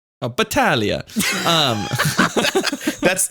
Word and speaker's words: Battaglia: didn't read the Normie Norm's last name pronun pronunciation Clause of beginning unfortunately okay say me say your last name for me Batalia oh Batalia um that's it's actually it's Unwritten but you